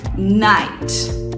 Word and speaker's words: night: não é nigt né o GH em inglês ele é bem famoso por ser mudo então Existem algumas situações que o GH ele é falado com som de F totalmente diferente e algumas situações que o GH Ele simplesmente é mudo e no caso de night é essa situação então Good night você